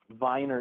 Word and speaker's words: Weiner: on the joke that Viner is an alternative pronunciation for Weiner because we thought that